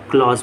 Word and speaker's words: clause: और जो ये खंड होते हैं, खंड को हम लोग क्लॉज बोलते हैं। क्या बोलते हैं? क्लॉज। स्पेलिंग होती है CLAUSE।